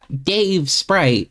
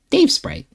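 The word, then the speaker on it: Davesprite: No, I mean, why do you always say it like that with the space between words? It's not Dave Sprite. It's just Dave Sprite.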